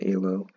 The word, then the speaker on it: Elo: So anyways, going back to the ELO system itself, and by the way, it's pronounced ELO, because he's a Hungarian born.